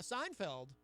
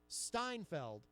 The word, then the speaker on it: Seinfeld: pronounce it shots but he will put a T in the word Seinfeld where it doesn't necessarily belong but that's why we